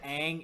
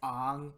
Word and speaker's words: Aang: Why is everybody pronouncing everything wrong in the movie? Like instead of Aang, it's Ang.